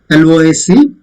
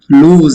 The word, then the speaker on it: lose: And lose, L-O-S-E, lose. It's not lose or something. Single O is there, but the pronunciation is lose.